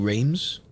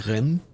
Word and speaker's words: Reims: I keep saying Reims, but apparently it's like Reims.